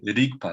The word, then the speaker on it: Rigpa: E eles falam Rigpa, né? Por causa E do a inglês, pronúncia né? correta é Rigpa, né? É Rigpa. Rigpa, né? Igual italiano.